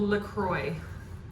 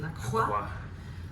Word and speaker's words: LaCroix: It's called LaCroix, and I'm sure if you're French, you pronounce it LaCroix.